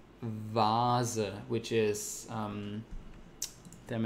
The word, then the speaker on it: Vase: way just with a uppercase v and it's pronounced Vaz like it's really soft sound so most these